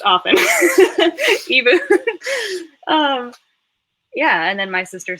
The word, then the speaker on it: Ebu: It's mispronounced often. Ebu.